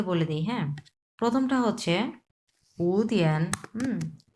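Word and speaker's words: 五天: সো আমরা উটা তখন আমরা 2 নাম্বার টন উচ্চারণ করব, উ তিয়ান।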